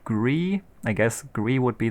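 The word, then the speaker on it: Gris: I might be playing, still don't know how to pronounce it, Gree.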